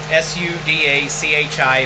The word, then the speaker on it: sudachi: the sudachi through first s-u-d-a-c-h-i think that's pronounced sudachi let me know if I'm wrong and if I really